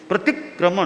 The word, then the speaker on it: प्रतिक्रमण: संयुक्त है तो थोड़ा पहले पर जोर पड़े, प्रतिक्रमण, प्रतिक्रमण, ती के बाद संयुक्त है प्रतिक्रमण, तो उच्चारण संयुक्त का कैसे करना।